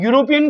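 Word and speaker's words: European: रिक्त स्थान यूरोपियन girl अब यूरोपियन का उच्चारण हो रहा है यू से अब यहां तो स्वर है ही ए ई आई ओ यू लेकिन हिंदी वाला ये स्वर नहीं है तो हम क्या करेंगे ए लगाएंगे इसमें भी ए लगेगा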